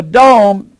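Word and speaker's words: δῶμα: And D-O-M-E looks like the word dome, and it is. But it's our word, roof. So a dome is the Greek word for roof, but it's pronounced dome.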